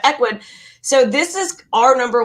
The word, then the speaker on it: Ecwid: we use is ecwid we were going back and forth on how to pronounce this they always make it so hard but ecwid so this is our